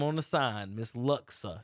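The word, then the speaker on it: Luksa: uh got her name on the sign miss luxa it's it's it's it's that the name it's l-u-k-s-a and everybody pronounce it luska and that's it's so hard it's like that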